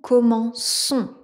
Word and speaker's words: commençons: Et vous voyez le c, on a ce qu'on appelle une sédic devant la lettre O. Si on avait pas cette sédille, on aurait un son que, mais ici, on veut un se donc on ajoute la sédille.